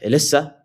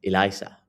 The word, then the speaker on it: ELISA: I was calling it Elysa and it's Elisa from what I've heard.